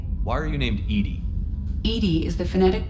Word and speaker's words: EDI: the medical bay why are you named edie edie is the phonetic pronunciation of edi that is an acronym for